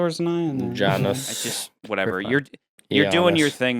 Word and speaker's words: Janus: That's spelled Janius, right? No. In Roman mythology. No, Janus.